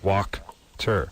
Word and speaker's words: Wachter: How do you spell that? It's phonetically, it's WOKTER. So walk-ter. Oh. Yeah. But there's no L I know in it. it's confusing. I've believe me Okay. for 29 German? years. Yeah. Yeah, W-A in Germany is Wachter.